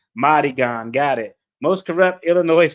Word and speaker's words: Madigan: Pronounced Madigan.